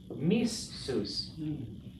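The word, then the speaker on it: מִסּוּס: What doubles a consonant? Dagesh. So the way you write this is with the strong dagesh, the doubling dagesh. So the way that this resolves then is missus.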